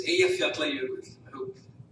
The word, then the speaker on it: Eyjafjallajökull: So you do a so it's Eyjafjallajökull.